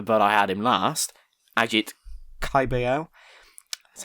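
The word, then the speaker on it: Agit Kabayel: Ajit Caballel. That's how you pronounce his name.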